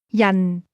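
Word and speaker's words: 人: Yan. This word is pronounced with a falling tone.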